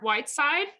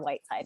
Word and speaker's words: Whiteside: this right dear heart white side close actually yes you actually pronounce my maiden name correctly and i do just go by white's side now awesome okay so thank